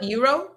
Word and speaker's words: Eero: Eero? Eero. Eero. Yep. How do you spell it?